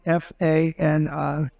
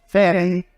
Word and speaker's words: Fani: But one after another, you had Fani, F-A-N-I, which is usually pronounced Fanny. And she added a little action to it, Fani.